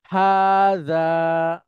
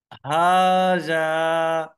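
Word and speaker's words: هذا: আপনি উচ্চারণ করবেন এবং দুইটা জায়গাতেই লম্বা করে বলতে হবে টান হবে অর্থাৎ এটা হচ্ছে হা এটা জাল হাজা হাজা ভেরি গুড সবাই যার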